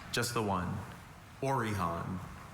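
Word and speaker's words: orihon: They're getting tired of us saying that, but the spellers are your word is orhan.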